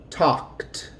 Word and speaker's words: talked: The ed is going to sound like a T. So this word is talked. The L is silent.